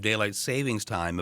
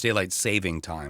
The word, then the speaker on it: daylight saving time: People reportedly start dreading the end of daylight savings time about 11 days before it takes effect. By the way, it's daylight saving time. I just said it wrong. It is.